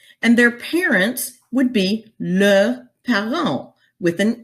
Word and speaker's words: leurs: They both mean their, and you'll notice that the S on the end of leur, plural, does not get pronounced.